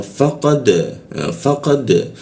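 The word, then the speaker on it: فَقَدْ: Dalnya ini berwarna biru muda. Artinya apa? Dipantulkan ya. Pantulankannya ke arah huruf e dia, huruf dal. Jadi cara membacanya faqad seperti itu.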